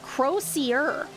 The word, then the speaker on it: crozier: Crozier is actually English, not French? Oh, pronounced Crozier. Crozier.